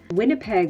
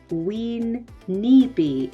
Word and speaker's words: Winnipeg: You can also see it in cities in Canada, such as Winnipeg. Winnipeg was probably Ween-Nipi, and that means muddy water.